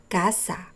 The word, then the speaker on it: casa: Here, the letter C sounds like a K because next to the C is an A. Casa.